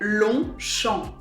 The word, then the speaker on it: Longchamp: So in French we would say Longchamp. You can't hear the G and you can't hear the P at the end, so it's Longchamp.